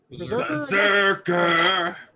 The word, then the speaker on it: BRZRKR: How do you pronounce this? Berserker.